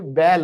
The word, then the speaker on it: belle: बैली मत कहते ना, बैली पेट होता है फिर। ठीक है ना, बैल बोलो।